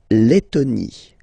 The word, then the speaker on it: Lettonie: So remember when you've got this E and then a double letter like that, T, okay, then you will have to open your E and it will become E, le, Lettonie. La Lettonie.